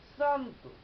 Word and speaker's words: শ্রান্ত: এভাবে দেখা যায় যেমন শ্রান্ত, লেখা তালব্য স দিয়ে, কিন্তু উচ্চারণ করি দন্ত স এর মতো।